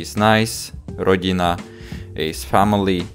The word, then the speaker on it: rodina: Okay, so we are gonna pronounce this one as teta, this one as pekne, rodina, ticho, not ticho, not rodina, not pekne, but soft.